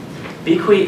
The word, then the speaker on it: BeeKwee: BeeKwee is something that we came up with. It was how we imagined that a child would pronounce bequeath, because that kind of describes the process of the hand-me-down experience.